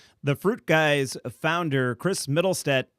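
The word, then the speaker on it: Mittelstaedt: fruit guys founder chris middlestead am i pronouncing your last name correctly middlestat yeah okay great uh you can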